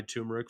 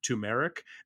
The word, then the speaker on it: turmeric: You know, I I went into true story, went into a place to buy turmeric for a friend and accidentally pronounced it tumeric.